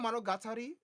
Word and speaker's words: monogatari: game was that imagine monari let me not pronounce that like a American a man imagine monogatari but Rhythm right so you